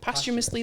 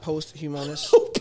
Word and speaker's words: posthumous: there where there's no it's not post humonus or whatever it's called nope wait how do you say it one more time posthumous posthumous p-o-s-t it doesn't have m-o-u-s